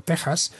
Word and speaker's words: Texas: Respecto a la pronunciación, en español, como es bien sabido, se pronuncia con J. Esa es la razón por la cual estoy diciendo Texas.